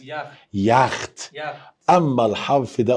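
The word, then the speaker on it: Yacht: جوه الكلمة هيتنطق واي عادي. قول معايا يخت. يخت.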